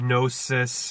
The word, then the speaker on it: Gnosis: I6, Gnosis, knowledge. The silent K in our knowledge corresponds to the silent G in Gnosis.